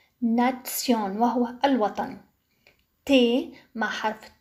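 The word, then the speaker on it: Nation: تي مع حرف اي تنطق تسي تسي مثل كلمة ناتسيون ناتسيون وهو الوطن.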